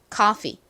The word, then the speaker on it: coffee: 그리고 가장 끝에 이는 무슨 소리가 나죠? 원래는 좀 긴 이 소리가 나는데 이 단어에서는 예외적으로 그렇게 길게 소리가 나지 않고요. 그냥 이로 소리가 납니다. 그래서 coffee가 아니라 coffee, coffee 이렇게 발음이 돼요.